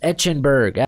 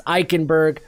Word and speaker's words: Eichenberg: number seven currently then liam echenberg currently editing this and i just noticed all right it's eichenberg i messed up we